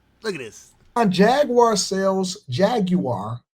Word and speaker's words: Jaguar: Jaguar sales Jaguar. That's the proper way to say it.